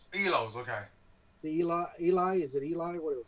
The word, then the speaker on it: Eloi: No, he runs into the Elos. Elos, okay. The Eloi, is it Eloi?